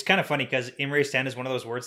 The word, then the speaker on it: Imre Stand: chapter 37 we have imrae stand which i had to look up to make sure i pronounced that correctly and i did and chapter 38 hidden